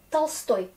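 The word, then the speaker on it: Толстой: Tolstoï, ne pas confondre avec Tolstoy, gros. Parce que Tolstoy, ça s'écrit avec E ici. Du coup, on est Tolstoï, l'accent sur O. Mais je pense que le principe reste quand même.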